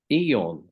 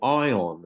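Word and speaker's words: Aion: I was um young um someone gave me Eon uh or ion as it's pronounced um a-i-o-n and that was far too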